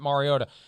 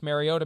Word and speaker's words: Mariota: unleash marcus mariota and thank you for pronouncing it mariota i i don't want to name names but my god when he was playing last thursday night it's mariota mariota mariota didn't we go through